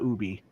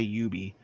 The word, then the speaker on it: Ubi: tech support, call it Ubi, not Ubi. Like we're getting away from it. Don't say that when you answer the phone. Say Ubi. Every time you guys are like, because it used to be pronounced Ubi, but like they worked really hard in like the 2010s to try to get everybody to switch it.